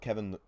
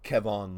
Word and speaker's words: Kevon: i was right about kevin looney kevon looney my fault i was told that i said it wrong in the last video kevon looney he did